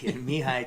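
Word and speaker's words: Mihály: pronounce his first name Mihaly Csikszentmihalyi knee high cheek send me home yeah me high Csikszentmihalyi Canadian researcher I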